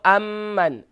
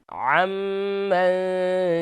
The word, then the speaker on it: عمن: عن عین pronounce properly. جی. عن حرامک واغننی بفضلک عمن سواک. عمن سواک. عمن سواک. no amman. عمن سواک.